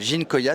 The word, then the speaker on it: Ginkoïa: sommes sur le stand d'une société qui s'appelle ginkoia c'est comme ça qu'on prononce tout à fait pourquoi ces deux arbres